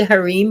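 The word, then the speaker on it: harem: the pronunce oh it's it's actually harim but everybody says okay thank you yes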